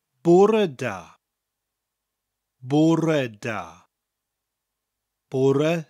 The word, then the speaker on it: bore: de Bourgh red da porra spelt be au r e like the english word poor oh I'm so bored that kind of poor but with an extra e